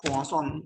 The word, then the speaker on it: Poisson: We call Poisson. It's a French pronunciation.